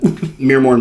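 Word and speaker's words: Myrmourn: Muirmorn Banshees? They're pretty rad. So they can't see through their veil. Or, I said it wrong again, but we're going to ignore that. Mirmorn Banshees.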